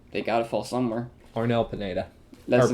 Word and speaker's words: Arnel Pineda: Arnel Pineda.